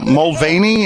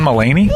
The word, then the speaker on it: Mulaney: seconds who is the comedian is it james mulvaney how do you pronounce his uh john mullaney uh there you go thank you john mulaney